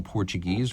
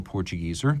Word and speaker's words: Portugieser: Of course, the original Portuguese or Portugieser, depending on whether you pronounce it in English or German, created in 1939 as a commission for IWC's Portuguese importers.